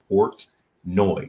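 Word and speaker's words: Portnoy: ponai P portoni I don't know I cannot pronounce his name I will do my best but it's Port noi yeah Port noi Port noi Port noi yeah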